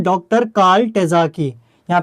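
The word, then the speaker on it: Terzaghi: तो यहां पे आपको नाम याद रखना है डॉक्टर कार्ल टेजाकी यहां पे मैं आपको स्पेलिंग अगर बताऊं तो डॉक्टर कार्ल के आर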